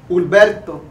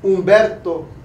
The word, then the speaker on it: Ulberto: He responds lovingly to mijo and can pronounce his middle name, Ulberto, not Umberto or Roberto or any other form of Beto, pero Ulberto, my middle name, my father's name, passed down to the son.